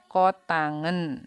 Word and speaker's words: kotangen: Cot itu bukan cot bacanya, ya. Cot itu singkatannya cotan, ya. Cara bacanya kotangen, ya.